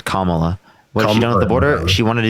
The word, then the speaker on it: Kamala: done with the border kamla am I am I saying it wrong yeah yeah her name's Kamala the Border she wanted